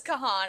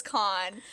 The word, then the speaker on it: Kahan: Oh my God, Kahan, and I will continue to pronounce it as Kahan. I know it's Khan, but I don't care.